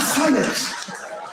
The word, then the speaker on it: subtle: What subtle would anybody object if it was spelt S U T L E? Not a single person would. But there's a B in the middle going, "Shh, just ignore me.